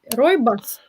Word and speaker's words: Rooibos: How is English pronunciation Rooibos? Rooibos.